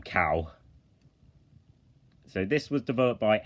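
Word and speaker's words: Kao: in next up is Cal the kangaroo or KO the kangaroo but it's supposed to be pronounced um um cow so this was developed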